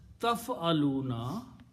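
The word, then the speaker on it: تَفْعَلُونَ: So the word is pronounced as taf'aluna.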